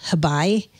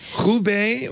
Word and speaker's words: Hebei: Because Microsoft said, as of this opening, I don't know how you pronounce the city or the region, Hebei.